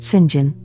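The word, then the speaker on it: St. John: are mary diana and saint john pronounced sinjin rivers and jane quickly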